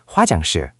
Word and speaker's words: 화장실: Hwa, ha is ha. Hwa, that looks like two vowels combined. Another great observation. Hwa is indeed a combination of O and A, making a wa sound. So hwa is Hwa. Then jang is j, a, ng, jang. And shil is s, i, il, shil, 화장실.